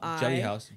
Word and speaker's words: Geli Hause: It's spelled with G, so it's Geli. Geli Hause.